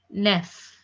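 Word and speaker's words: neuf: 9 is pronounced as nef.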